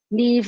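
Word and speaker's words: Niamh: uh my name is leave it's pronounced me rhymes with steve uh gaelic names are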